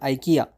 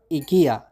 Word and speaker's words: IKEA: not least your favorite Furniture Store the multinational Ikea but the actual pronunciation is Ika even though most people speak Ikea so how